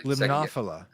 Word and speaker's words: Limnophila: Oh, now I'm gonna Limnophila.